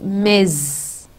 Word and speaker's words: Ms: the person is married it is pronounced miz okay now the eighth